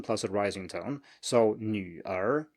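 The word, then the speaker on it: 女儿: So 女儿, 女儿.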